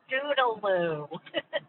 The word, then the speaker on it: studaloo: We know another family that has incorporated Studaloo, and they sometimes mispronounce it, and we roll our eyes like, "It's Studaloo."